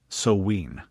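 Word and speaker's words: Samhain: She pronounced it Soween.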